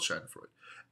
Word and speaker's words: Schadenfreude: And it's called Schadenfreude. Spelt with an A, but it's called Schadenfreude.